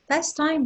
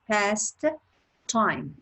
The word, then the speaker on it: pastime: And we pronounce it pastime. We don't pronounce it past time. It's not two words, it's just one word. And actually, it's pastime, one word, pronounce it with one T, and you spell it